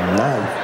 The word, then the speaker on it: knife: She said the K is silent.